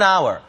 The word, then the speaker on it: hour: 자, hour, H가 묵음이기 때문에 an, 관사가 붙어야 되죠. 자, 그래서 an hour, 한 단어처럼 발음되죠.